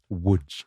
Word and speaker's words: Łódź: I think Lodz is how you pronounce it, Dom. No, I think not, Tom. Łódź.